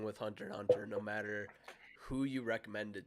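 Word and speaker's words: Hunter × Hunter: class another classic it's hunter x hunter hunter hunter sorry not supposed to pronounce the x it is what it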